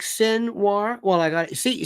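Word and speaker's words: Sinwar: up ftic Yaya sinir sin War s i n w r like sin War well I got see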